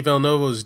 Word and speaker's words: Villeneuve: So, that brings us to today and Denis Villeneuve's Dune, which we can talk about pretty soon.